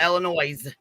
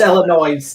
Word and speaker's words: Illinois: Yeah, there's no S on it, okay? It's not Illinois. It's Illinois. No, I disagree with you, Queen. No, it's it's Illinois. Illinois. The S is silent.